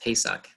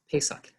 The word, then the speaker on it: Pesach: It means Passover in Hebrew, and it's pronounced Pesach. Sort of like, think of you're going to the store to pay for socks, Pesach.